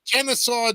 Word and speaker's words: Kennesaw: In Kennesaw, Georgia, if I'm pronouncing that right. Yeah, you are.